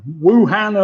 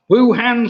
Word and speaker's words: Wuhan: city was known as wuhan which kind of almost rhymes with bhutan so wuhan and bhutan was what